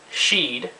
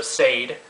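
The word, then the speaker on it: seiðr: for everyone to follow the next term I will use is Sheed is how I've heard it pronounced it's also Sade I've heard it pronounced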